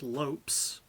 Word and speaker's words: Lopes: fight first of all Bruce Buffer mispronounced Lopez's surname is just Lopes which I found kind